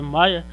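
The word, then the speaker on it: Meyer: de sobrenome Mayer, né, a pronúncia é Mayer, tem outro nome, é Julius Lothar Mayer, e o russo Dmitry Mendeleev, certo?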